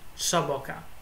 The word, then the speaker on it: Xaboka: Time for Xaboka's solution, who actually told me it's pronounced Xaboka, or I hope to say it right this time.